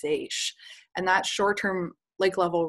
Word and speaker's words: seiche: It looks like seiche, but it's pronounced seiche.